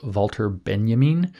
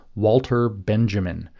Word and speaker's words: Walter Benjamin: very early on was volter Benjamin which you would spell as an English-speaking person Walter Benjamin but it's not pronounced that way and uh Benjamin was